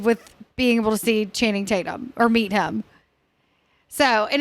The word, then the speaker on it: Channing Tatum: But I like to say Channing Tatum. It's like Tatum. I tried so hard to get him to promote, but he's got people. Totally. He got to get paid. Cameron called him Chatham Tatum one time, and it stuck with me.